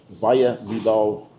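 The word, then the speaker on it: Valle Vidal: We're also in uh what's the name of the valley we're in so it's pronounced correctly? Vaia Vidal Valley of Life.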